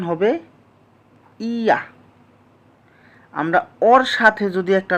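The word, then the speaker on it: ㅑ: ইয়া। উচ্চারণ কি হবে? ইয়া।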